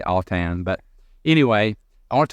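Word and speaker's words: Autin: It is a French name, A-U-T-I-N. It sounds like it should be an A. Autain. It really is Autain. I say Autain.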